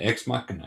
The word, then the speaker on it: Ex Machina: Yeah, Ex Machina.